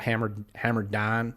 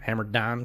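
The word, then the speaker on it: Hammer Dahn: They have a gambling show called Hammer Don is how they pronounce it. Okay. It's spelled DHAN, Hammer Don.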